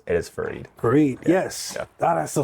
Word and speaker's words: Farid: used to go by farad uh and I only did that because it was I felt like it was easier for people to say right like Jared except with an F right yeah and uh